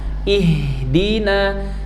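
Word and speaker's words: اهدنا: Kalau menggunakan mushaf Madinah dalam lafaz ihdina, alifnya adalah hamzah wasal gitu ya. Bertemu dia dengan ha sukun. Huruf ketiganya adalah huruf nun berharakat fathah. Maka cara baca hamzah wasalnya adalah kasrah.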